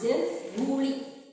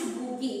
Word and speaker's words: GUI: It is pronounced Googie. Okay, it is pronounced Googie.